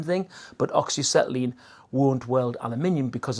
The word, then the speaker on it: aluminium: Basically what that means is that it can weld metal and also aluminium, or aluminum, like the Americans say.